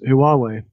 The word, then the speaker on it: Huawei: In the UK, we currently have a debate around Huawei. That's how you say that. That's how you pronounce the name.